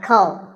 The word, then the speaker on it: comb: Not a comb, a comb.